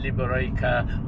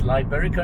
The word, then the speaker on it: Liberica: and it's called my liberaca coffee plantation and processing mill so not only can i not pronounce malay words i can't pronounce it's liberica an english word spanish